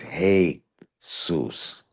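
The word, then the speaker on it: Jesús: Even by it being a Spanish word is still broken up as heyus, not um but the J the J in Spanish is pronounced with a H sound.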